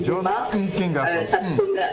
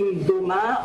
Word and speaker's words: Mboma: On a des problèmes à prononcer le nom de notre compatriote Patrick Mboma.